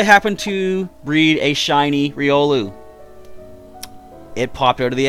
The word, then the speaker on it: Riolu: that I breed up and this month is ryeol but again going week into February I said it right this time you are gonna get a chance for riolu if you join up as a member between